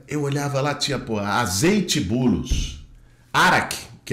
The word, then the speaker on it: Boulos: mim olha só ó bolos na verdade árabe pronuncia bulos bulos é Paulo São do meu meu